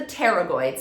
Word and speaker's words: pterygoids: And those are the pterygoids, spelled with a P if you want to look them up.